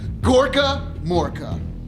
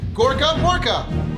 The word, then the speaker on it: Gorkamorka: You get what's called Gorkamorka. That's right, I said it right. Gorkamorka.